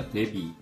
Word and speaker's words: 데뷔: くいので , みんな 데뷔, 데뷔 の B で発音してます .